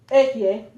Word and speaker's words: Yahweh: And I seen how, you just seen how YaHWeH, right?